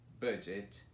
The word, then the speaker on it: budget: Isso mesmo, essas palavras elas normalmente os alunos confundem, não sabem como pronunciar, principalmente porque aparece um G, E, T no final, que para todo mundo é o get. Mas aí aparece um D e aí ele muda totalmente a pronúncia dele. Mas já temos algumas palavras